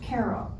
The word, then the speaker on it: Cairo: Cairo it's spelled like Cairo Egypt but it's pronounced Cairo and I rode my horse up with some